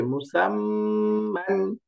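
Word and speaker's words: مُسَمًّى: তো এটা পড়তে হবে মুসাম্মান, মুসাম্মান। এই যে দেখেন মিম দম্মা মু, সিন ফাতহা মিম সুকুন সাম, এই যে মিম ফাতহাতাইন মান, মুসাম্মান। অর্থাৎ তাসদীদের মধ্যে দুইবার উচ্চারণ করতে হবে, আমরা সামনে পড়ছি তাসদীদের উচ্চারণটা।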